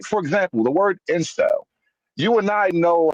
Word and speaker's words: incel: It will pronounce it as inkel. And so Yeah, you'll hear yeah. a lot of these videos with text to speech, and it will say inkel when the word is incel.